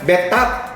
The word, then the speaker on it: bathtub: Bathtub ya, bukan bathtub. Pengucapannya ingat, bathtub. Bathtub bukan bathtub ya.